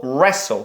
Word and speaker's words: wrestle: Rest зап'ястя або wrestle. Та реслманія. Реслінг. Ми знаємо реслінг. О, ось звідси, да, іде. Якраз це воно і є. Wrestling читається як без W.